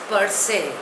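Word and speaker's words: per se: newly acquired wealth रेकलेट the next word is परसे spelling is पी ई आर एस ई pronunciation is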